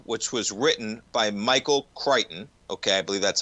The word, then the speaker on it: Crichton: So Spielberg brought the book, which was written by Michael Crichton. Okay, I believe that's how you pronounce it.